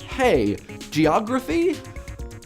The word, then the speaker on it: hagiography: for the pronunciation guide hagiography like hey geography I should probably just